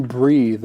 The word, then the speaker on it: breathe: little bit different too the th for breathe is like the but for breath it's a quiet one right th so it's